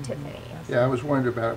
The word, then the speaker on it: Tiphanie: Basically, Tiffany Music is where you can find me everywhere on Facebook, Instagram, Twitter, website, and Tiffany is spelled Tiphanie, like Stephanie, but Tiffany.